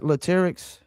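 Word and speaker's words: Latyrx: Is that Latics? You did pronounce it right, which is not Everybody don't do that, but yeah, you did.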